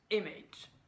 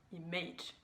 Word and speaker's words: image: Alors pour le mot image, il met le stress sur le A, alors qu'en fait le stress est sur le I. On prononce image et non image.